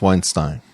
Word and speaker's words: Weinstein: Is it Weinstein Weinstein? How do you say your last name? I think it's Weinstein. Weinstein. I agree. That's the more Germanic way to go about it.